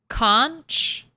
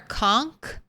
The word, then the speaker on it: conch: Do you pronounce it uh conch or conk? Uh I say conch with like a a ch sound and not a k sound at the end, but I'm not entirely